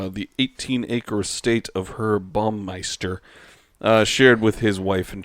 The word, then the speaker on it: Baumeister: Baumeister, like Bannister, but it's Baum.